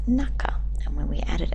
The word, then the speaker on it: 中: the kun reading the kuny that's the Japanese pronunciation it's naka and when we add it as a relative